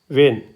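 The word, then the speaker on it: vein: की मात्रा जो है ये वाली है वे वेन वेन वेन ठीक है वेन ठीक है न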